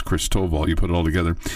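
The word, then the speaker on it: Christoval: And I got a better pronouncer for the team that they're playing, Cristoval, like Chris Toval, but it's Cristoval.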